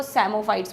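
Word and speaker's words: psammophytes: जो Wraith type होती है उसमें ग्रो करने वालों को सेमोफाइट्स बोलते हैं। पी साइलेंट है।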